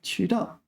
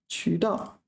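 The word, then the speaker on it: 渠道: 渠道. So let's look at 渠道. Okay, so 渠 is second tone, and I've been getting it wrong.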